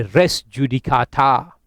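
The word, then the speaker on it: res judicata: रेस जुडिकाटा का मतलब ऐसा है, अच्छा ये तो मैं अपने उससे प्रोनाउंस कर रहा हूँ इन अ ridiculous manner, it's pronounce as रेस जुडिकेटा, ठीक है?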